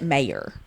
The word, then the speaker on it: Maehrer: May mayor may I I pronounce it mayor but I don't know if that's but there's another R there's another r m a e h r e r but I I don't know if it's my Southern accent coming out mayor yeah I know because